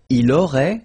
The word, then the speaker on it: aurait: Il aurait, same thing here. Final T is not pronounced.